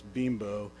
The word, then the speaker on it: Bimbo: of that facility by, I think it's pronounced Bimbo. They're a company that's based in Mexico, and so, they probably didn't realize the implications that name might have here, but so it's Bimbo, and it's a multinational company.